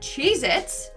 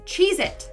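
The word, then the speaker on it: Cheez-It: tasty cheesec cracker is not called cheit it's chees it either I've been saying it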